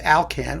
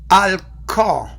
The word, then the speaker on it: Alkan: with alcohol is that in English its alkane which rhymes with Kalkan which is a dog food so I'm going to